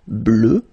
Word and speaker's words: bleue: Phonetically it doesn't exist because you don't pronounce it, so you get bleu, as you would get for the masculine form, okay?